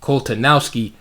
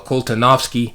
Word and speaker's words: Koltanowski: which is the akole uh koltanowski or koltanovsky variation depending on which pronunciation you want to use um c3 all